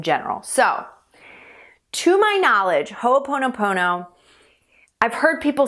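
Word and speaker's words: Hoʻoponopono: will use Hooponopono to, I keep saying Hoopono, and I want to make sure I'm saying Hooponopono, but that's how you pronounce it, by the way.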